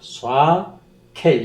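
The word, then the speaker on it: שקר: 샤켈, 이게 크 발음입니다. 샤켈.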